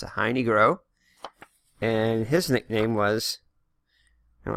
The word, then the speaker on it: Heine Groh: That's how you pronounce it, Heine Groh.